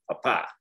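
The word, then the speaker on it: papá: mark and that means we have to shift the emphasis of our pronunciation papa now typically speaking when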